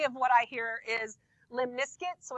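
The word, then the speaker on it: limaçon: which I've heard pronounced limus skate but I don't think that's right because the majority of what I hear is Lim nisc so it rhymes with Limp Biscuit Lim nisc and that's what's happening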